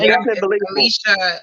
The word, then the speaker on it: Elychia: It was Alicia Redmond. If they want to look her up on Facebook, her name is spelled ELYCHIA, and it's Redmond, REDMOND, and she is on on Facebook.